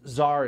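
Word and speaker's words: Saar: And Czar is spelled S-A-A-R, so Czar.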